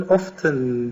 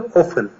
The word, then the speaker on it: often: Yani always her zaman usually genellikle often bazen often diye telaffuz bazen de often şeklinde iki şekilde doğru olmuş oluyor. Sık sık demek often.